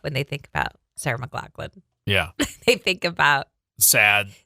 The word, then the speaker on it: McLachlan: Sarah McLachlan. There it is. That's correct.